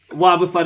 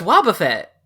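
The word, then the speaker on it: Wobbuffet: is another Pokemon and that's not how you pronounce it how is he pronounce it it's Waba Fett well I'm very bad at pronouncing things woba fut I hate it oh wait so it's it's like Warren Buffett yeah okay CL enough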